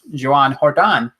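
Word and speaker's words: Joan Jordán: Written down, it's spelled Joe Jordan, or Gonzo will call it Joe Jordan. If you're Spanish, it's Joan Jordan.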